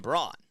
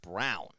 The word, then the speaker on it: Braun: which is like Ryan Braun. You know, it looks like it's pronounced Braun, but it's really pronounced Brown.